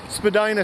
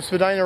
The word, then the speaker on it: Spadina: left, left and right, there's entrances to the Spadina subway station for that subway. And we're just gonna barely make it through this traffic light. And now we're on Spadina Avenue. So, as I said, changed from Spadina Road to Spadina Avenue.